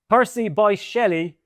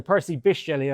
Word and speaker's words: Percy Bysshe Shelley: Percy Bysshe Shelley, uh sorry, Percy Bysshe Shelley, I learned on the train on the way